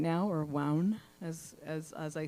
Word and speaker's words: WOWN: Yeah, WOWN rhymes with town and down.